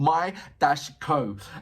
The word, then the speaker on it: BAND-MAIKO: He said it's BAND-MAIKO, and he's putting my-ko.